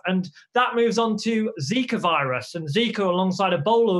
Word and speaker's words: Zika: We've known about it since the 1950s, where its correct pronunciation is Zika, and it came out of a Ugandan forest.